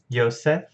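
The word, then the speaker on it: יוסף: Of course, in English we go through German, which transliterates Y sounds into J's, but still pronounce them as Y's. And then in English we pronounce them as J. So we say Joseph, but Yosef.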